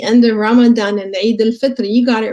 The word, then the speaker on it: Eid al-Fitr: So yes, Eid al-Fitr is the right word, right pronunciation, and it is called the meaning of it.